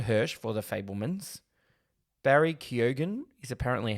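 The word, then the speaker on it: Keoghan: for Causeway Judd Hirsch for the fablemans Barry Keogan is apparently how we're pronouncing that the Banshees of initial and kihi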